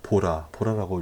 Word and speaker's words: VOLA: 그래서, 여러 방법이 있겠지만, 제가 사용하는 이 VOLA, 보라라고 읽어야 될 것 같아요.